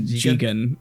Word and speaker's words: Jigen: where like they mispronounce Lupin specifically mispronounces the names a lot. So he Oh. calls Goemon Goemon, and he calls Jigen Gigan. But then like, Oh. but then like halfway through, Goemon says, "You're pronouncing your names wrong. I'm Goemon." Yeah, he's Jigen, that's and you're Lupin.